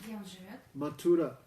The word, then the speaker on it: Mathura: That is Mathura. Там есть Мадхура. What? How you spell that? Как ты произносишь Mathura. Мадхура? Mathura.